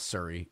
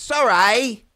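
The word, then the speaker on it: Surrey: these frantic Emer s that's how you say it Ballin it's not Siri it's Sor off to a bad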